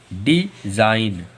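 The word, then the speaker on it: design: जैसे कि देखो डी ई एस आई जी एन, एन के पहले जी आ गया तो हम लोगों का जी साइलेंट है। तो इसे क्या पढ़ेंगे, डिज़ाइन। डिज़ाइन।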